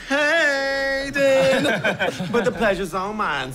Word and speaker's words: Hayden: It's actually pronounced Hayden.